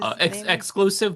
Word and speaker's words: DJ Xxxclusive: Xxclusive, but with 3 X's.